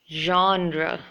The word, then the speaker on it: genre: So whatever it may be, this shouldn't be pronounced as genre or genre. It should be genre.